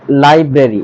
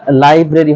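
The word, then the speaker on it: library: definitely তারপর এখানে রয়েছে আমরা এটাকে আগে বলতাম লাইব্রেরি এটা লাইব্রেরি হবে না এটা হবে লাইব্রারি এটা হবে লাইব্রারি নেক্সট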